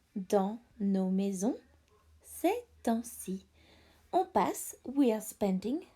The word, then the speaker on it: temps: On passe beaucoup de temps dans nos maisons ces temps-ci.